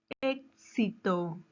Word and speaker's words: éxito: Éxito. ¿Dónde lleva la mayor fuerza de voz? Muy bien. Lleva mayor fuerza de voz en ex, ¿verdad? En la antepenúltima sílaba.